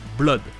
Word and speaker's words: Blood: Blood, c'est du sang, et les deux O se prononcent comme un O tout seul, Blood.